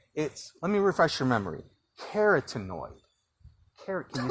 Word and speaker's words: carotenoid: Carotenoid.